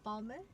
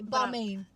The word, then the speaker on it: Balmain: I would say Balmain. Cause it's like my man.